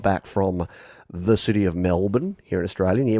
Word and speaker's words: Melbourne: folks outside of Australia when they first see that they quite correctly say Melbourne because that's how it should be pronounced and here in Australia we've got cranbourne we've got other places that have borne the born identity uh yeah The Bourne Supremacy no but Melbourne but we say Melbourne bin BN like not